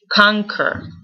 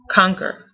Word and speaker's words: conquer: even pretend like there's no U no q and just put a k conquer conquer like that um this